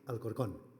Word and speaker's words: Alcorcón: And I'm going to tell you about our strategy on hand hygiene at the Hospital Universitario Fundación Alcorcón. That's the right pronunciation.